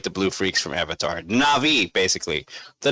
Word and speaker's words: Na'vi: would obl obliterate the blue freaks from Avatar na'vi basically the na'vi n a v na apostrophe VI that's how the that's how they're pronounced okay na'vi how to obliterate the blue freaks from Avatar